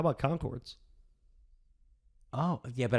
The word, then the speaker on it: Conchords: a commodore how about conchords oh yeah but i would pronounce it the english way a conquered okay that's fair all